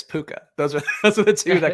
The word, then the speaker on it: Puka: Puka gets drafted again. Puka's steadily getting drafted now, which is interesting to see. I like Puka. Rhymes with Luca, so I'm okay with that.